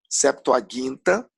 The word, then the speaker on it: Septuaginta: mais livros na Septuaginta, lembrando sempre a pronúncia correta de acordo com o grego, Septuaginta, ela também tem mais livros do que a nossa Bíblia, Antigo Testamento.